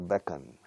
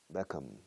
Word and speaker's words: Beckham: Tengo una pelea constante desde siempre, sempiterna pelea con mis alumnos hispanohablantes para cerrar la boca con la M. David Beckham. y no becan. Beckham.